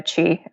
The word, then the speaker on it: Qi: It's Chi, uh, which is spelled Qi.